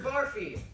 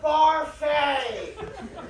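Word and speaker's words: Barfée: Barfy. It's pronounced Barfay!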